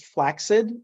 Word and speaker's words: flaccid: gutter is where I live was this topic flaccid semi-art urgent um it's up to you so I was told that the correct pronunciation is flaxid and I looked it up and it's actually